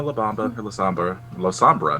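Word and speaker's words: Lasombra: La Sombra, not La Samba.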